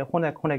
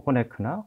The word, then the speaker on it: Honeck: 미국 사람들은 그냥 편하게 호넥 이렇게 부를 겁니다. 그러니까 뭐 호네크라고 쓰고 뭐 발음은 뭐 호네크나 호넥이나 편하신 대로 이렇게 말씀하셔도 될것 같습니다.